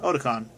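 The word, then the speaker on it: Otacon: games except for the 3rd one, so yeah, Otakon.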